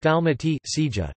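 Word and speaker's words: Dalmacija: The modern Croatian spelling is Dalmatia, pronounced Dalmati, Sija.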